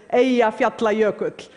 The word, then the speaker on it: Eyjafjallajökull: By the way, the pronunciation is Eyjafjallajökull.